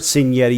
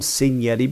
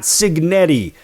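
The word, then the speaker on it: Cignetti: Fernando Mendoza, Kurt Senetti. Yes, I call him Senetti because that's how it's pronounced in Italian, not Signetti.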